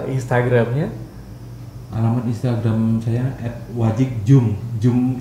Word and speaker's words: Djoem: Jum itu ejaan nama DJOEM.